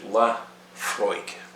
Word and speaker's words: Laphroaig: often have nothing to do whatsoever with the pronunciation of the word in english so laphroaig is actually la freud and this isla distillery that means the beautiful